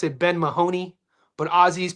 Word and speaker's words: Mahoney: I know if you're in America, we pronounce it Ben Mahoney, but Azy's pronounce it Ben Mani.